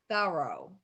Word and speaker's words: Thoreau: that it was thorough so when hawthorne nathaniel hawthorne first met thorough in 1842 he wrote in his journal dined with mr thorough and he spelled it t-h-o-r-o-w so he was spelling it phonetically we also know that